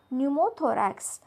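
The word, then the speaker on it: pneumothorax: उच्चार होत नाही नेक्स्ट न्यूमोथोरक्स पी एन य एम ओ टी एच ओ आर ए एक्स इथे पी आहे पण त्याचा उच्चार होत नाही बघा हे सर्व होते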